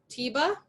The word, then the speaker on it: Tiba: Okay, and correct me if my pronunciation is wrong. Tiba, is that how you pronounce it? Yeah, that's correct.